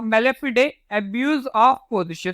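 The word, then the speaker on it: mala fide: ये आपका मेलेफिडे, या आपका क्या मेलेफिडे, या फिर आपका वी कैन से मेला फाइड भी बोल सकते हैं। ओके, अलग अलग इसके प्रोनाउंसिएशन है। ओके, फिडे बोलोगे वो भी सही है। ओके, वही ज्यादा सही है।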